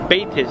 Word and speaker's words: Batis: one I have for you is about Ze baas it's spelled b a t i s and it's